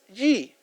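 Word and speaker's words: 机: El primero es el símbolo del peligro, se pronuncia wei, símbolo del peligro, y el otro es yi, es símbolo de oportunidad.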